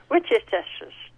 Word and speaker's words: Worcestershire: Well, I'll pronounce it the way I do. Okay. Worcestershire.